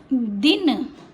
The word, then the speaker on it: दिन: आप उच्चारण पर ध्यान देना यह है दिन और यह है दीन जब छोटी की मात्रा है तो दि न दिन बड़ी के तो दीन आप खुद बोल के